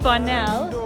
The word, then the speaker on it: Bonnell: Okay, so we're right now at Mount Bonnell.